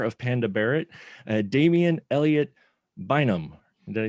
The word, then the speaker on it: Bynum: And the star of Panda Barrett, Damien Elliott Bynum.